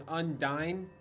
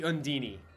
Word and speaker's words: Undyne: i look at that even though you're meaning as undyne i see undini like i see the e pronounced differently than it just being dine but i totally understand